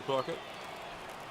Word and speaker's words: Puckett: Puckett. Puckett rhyming with a few things. Bucket is the first word I can think of.